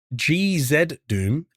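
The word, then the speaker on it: GZDoom: It's pronounced GZ Doom, and there's some awesome games that came out on Set Engine like Celeco and Total Chaos.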